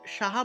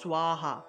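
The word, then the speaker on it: স্বাহা: একইভাবে আমরা যখন সাহা বলি না, সাহা, ঠিক আছে, এটাকে সাহা উচ্চারণ হবে না, এটা হবে সোয়াহা।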